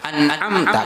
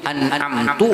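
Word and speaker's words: أنعمت: An'amta kalau cuma sebatas nun dikalkalahkan, kada merubah kepada makna. Tapi kalau sudah baris yang terubah, an'amta, lalu membacanya jadi an'amtu atau an'amti, itu kada boleh.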